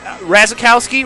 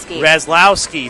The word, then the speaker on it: Razlowski: It's the guest of honor, we should say, in Jackie, and then Razakowski, right? Is that? Razlowski. See, Nate, that's why it's